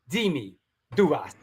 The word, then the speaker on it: Dimi Douvas: Dimi Douvas.